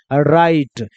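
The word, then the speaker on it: right: Just like ऐसे ही है, आर का उच्चारण क्या करेंगे, र। आई का उच्चारण आई, तो र में आई जोड़िएगा तो क्या बन जाएगा, राई। और जीएस बोलना नहीं है, टी को क्या पढ़ेंगे, ट। तो क्या हो जाएगा, राइट।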